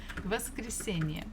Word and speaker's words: воскресенье: Воскресенье. Okay, a little bit faster. Воскресенье. Воскресенье. Воскресенье. Try to think where should the stress be. Воскресенье. Воскресенье. So it's the syllable before last, the one before last.